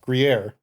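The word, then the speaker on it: Gruyère: So as far as a cheese rating, I'm gonna give it a how's this pronounced? Gruyere, I think is what it is. Gruyere.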